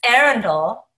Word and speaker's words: Arundel: And welcome, Arundel. You want to have a rebuttal to that introduction? Yeah, the first rebuttal is it's Arundel.